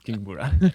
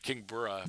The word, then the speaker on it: Kingbura: And now we finally have an answer to how you pronounce it. It's Kingbura, I think. Yeah, absolutely. It's Kingbura. Kingbura.